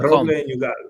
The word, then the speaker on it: Roble Nogal: Roble Nogal. People tend to start with the R, because if you say it properly, it's a very R sound.